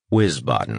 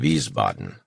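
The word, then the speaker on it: Wiesbaden: surveying a map table the names of cities would be turly identified and deliberately mispronounced whis boten rather than Vis Boden staff officers worked up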